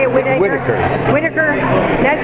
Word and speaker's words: Whitaker: Whitaker.